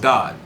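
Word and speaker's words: גד: the sons of yakov we spell is gimmel dalit pronounced god but it was not what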